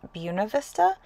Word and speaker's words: Buena Vista: Buena Vista which I recently learned is actually pronounced Buena Vista and that feels weird to say but then